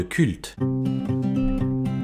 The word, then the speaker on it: CVLT: Aujourd'hui, on se parle de culte. Analyse, avis, questions d'actualité, c'est le podcast du Labo des Jeux. Alors, Culte, qui s'écrit C-V-L-T, est un jeu de